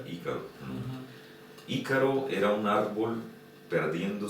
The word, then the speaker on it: Ícaro: Ícaro, потому что на испанском произносится Ícaro.